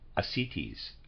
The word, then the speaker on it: ascites: bloated abdomen with slight ascites. Reader's aside, I'm pronouncing that. It's A-S-C-I-T-E-S. Forgive me, I'm pronouncing that ascites.